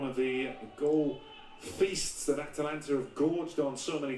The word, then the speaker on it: Atalanta: Atalanta. It's like Atlanta, but it's like Atalanta. More A's involved.